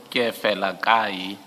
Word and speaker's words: Kefelakai: So you don't enunciate the second E. Can you please pronounce the surname? The surname is pronounced as follows: Kefelakai.